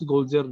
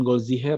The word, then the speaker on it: Goldziher: Nah, Ignaz dan Ignaz Goldziak dan Bacanya bukan Goldziher ya, karena H dalam bahasa Jerman itu nggak dibaca kalau di tengah, Goldziher gitu aja.